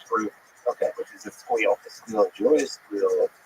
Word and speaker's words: SQL: By the way, you pronounce SQL. It's squeal. Good.